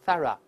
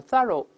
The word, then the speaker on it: thorough: 当然，这个词英国人读成 thorough，美式读成 thorough，叫彻底调